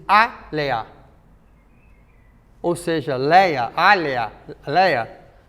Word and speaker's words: Alia: Alia pronuncia-se Alea.